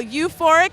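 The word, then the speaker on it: U4IC: people too this is pretty cool okay so euphoric is u for the number four i see you fork is how it's pronounced everyone gets that concern it's like a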